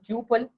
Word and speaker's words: tuple: pronounce it as a tuple or tuple. It's up to your pronunciation, but two things is exactly right. So either you can tell as a tuple or tuple.